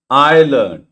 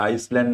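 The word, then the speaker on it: island: आयलंड त्याला आईसलँड नका वाचवा.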